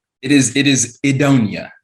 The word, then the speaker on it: Idonia: it is it is edonia Adonia okay Adonia um which is originally comes from it's a play on Eden um was where it